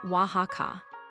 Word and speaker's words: Oaxaca: Number 4 is Oaxaca, Mexico. Pronounce it Oaxaca.